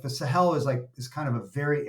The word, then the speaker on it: Sahel: do you spell it? The Sahel, Sahel.